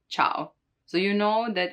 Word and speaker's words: ciao: Now, the letter I can also be followed by some other vowels. In that case, it's not pronounced, like in ciao, ciao, hi, ciao. You don't say ciao, ciao. So it just modifies the hard sound and it makes it a soft sound, right? Not cow, but ciao.